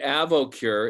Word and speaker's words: Avoqure: Nebulization with glutathione and acetylcysteine once or twice a day, the nasopure, the Avocure, AVOQURE.